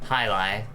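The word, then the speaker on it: jai alai: of this is pronunciation hi li hi li yeah okay that's how it's pronounced it's pronounced hi-li or yes or if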